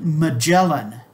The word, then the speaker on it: Magellan: he was wrong ferdinand magellan a spaniard that is the english pronunciation of his name the the family name